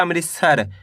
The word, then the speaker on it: अमृतसर: आ मिलके बन जाएगा अमृतसर। पहले आपको अमृत पढ़ना है। इसके बाद सर पढ़ना है। दोनों मिला दो। अमृतसर।